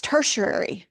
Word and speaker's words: tertiary: And then you have the next set, and I always struggle pronouncing this, tertiary. I have it phonetically here. I listen to it on the web so that I can pronounce it. It's tertiary, which really means third.